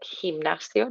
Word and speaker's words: gimnasio: Watching the word colegio, just nice like gimnasio, nice sound on the back of your throat.